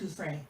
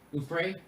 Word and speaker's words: Giuffre: And Jimmy, I think it's pronounced Gouffre. Gouffre?